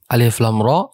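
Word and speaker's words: الر: ada alif lam R alif lam ro ada di surah Yunus surah Hud Surah Yusuf Surah Ibrahim dan surah al-hijr bacanya lamnya 6 harakat dan rnya itu cuman dua harakat sebagai Mad thobii Harfi alif lam ro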